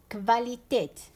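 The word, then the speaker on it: Qualität: دوكا نعطيكم باغ اكزامبل هنا هاد ليكزامبل كفاليتيت سي لا كاليتي كفاليتيت سي لا كاليتي داكو. هنا كيفاش قراينا كيفاش نطقناها كفا نطقناها كفا نديرو اونتر غيومي نطقناها كفا تنطق كفاليتيت داكوغ.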